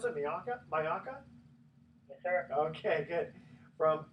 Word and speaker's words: Majalca: Is that how you pronounce it? Majalca?